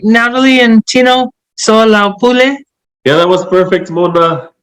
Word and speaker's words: Soalaupule: Did I pronounce it right, Natalie and Tino? SOALAUPULE?